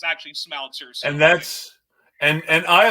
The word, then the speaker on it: Smouter: Smouter, not Smooter. Smouter. Okay, I appreciate that.